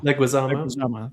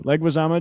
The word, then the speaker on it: Leguizamo: How do you pronounce his name? Leguizamo. Thank you. Leguizamo.